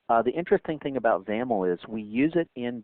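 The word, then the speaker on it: XAML: is determined by the zaml um by the way zaml AML is the is the acronym there and that's pronounced with a you know rhyming with camel so let's go ahead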